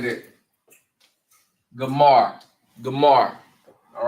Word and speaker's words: Gomer: And they are called Gomar or Gomer in the Bible, right? Gomer. All right. And they are pronounced Gamar in the Hebrew.